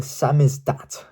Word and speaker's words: samizdat: In 1970s, Moscow conceptualists created the samizdat. That is spelled exactly how it's said.